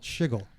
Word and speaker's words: SHGL: Shiggle. The more you know. Bro. I've never heard. Like I've seen the acronym, right? SHGL. I didn't know that people were actually pronouncing it that way.